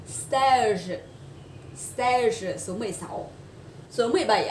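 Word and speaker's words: seize: Cái này nó không đọc giống như 16 đâu ạ. Say tiếng Anh không phải thế ạ. Nó đọc là stage.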